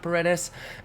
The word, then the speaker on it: Paredes: I know it says Isaac there for most of y'all, but it's actually pronounced Isaac Paredes, and he is the Tigers' Team Affinity 2 reveal.